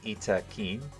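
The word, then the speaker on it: Yttakin: of the door uh the yetikin yetkin pronounced roughly as ITA Keen oh whoops itakein descend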